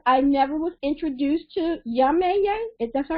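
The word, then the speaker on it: Yemayá: And I'm really upset because I never was introduced to Yameye. Is that how you say it? Yemeya, and Yeah. Yemeya, there's many different versions.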